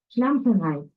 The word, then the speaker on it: Schlamperei: Ok, ¿cómo se pronuncia? Schlamperei.